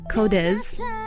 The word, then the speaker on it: QODES: quote or codes sorry codez that's how you pronounce it it's spelled q-o-d-e-s and their song la